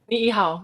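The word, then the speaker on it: Niʻihau: And again, I don't know how to pronounce this, I don't want to butcher it, but Niihau, right? Niihau, yep.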